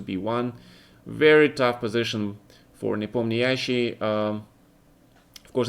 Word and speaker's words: Nepomniachtchi: Of course, in Russian we just call him Nepomniachtchi, with the accent on the second vowel. Almost like in French, right? But for some reason a lot of people call him Nepomniachtchi, and that's kind of strange to me.